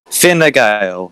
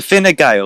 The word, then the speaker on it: Fine Gael: He's just pinged you on Twitter saying Fine Gael is the correct pronunciation. Fine Gael. So Fine Gael is the pronunciation.